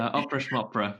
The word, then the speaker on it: Opera Schmopera: You founded Opera Schmopera, if that's how you pronounce it. Opera schmopera. It's like a kind of Schmopera. Yiddish thing.